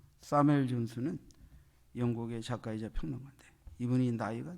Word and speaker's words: 사무엘 존슨: 때 선정된 인물, 그게 사무엘 존슨, 셰무엘 존슨이라고 그러는데 발음이 사무엘 존슨.